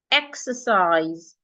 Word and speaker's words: exercise: In the first word, the letter E sounds E, exercise, exercise, exercise.